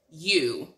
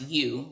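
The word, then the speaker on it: ewe: means what's called um you like a female sheep so a u and it's it's spelled e-w-e but it's pronounced you like y-o-u but it's a female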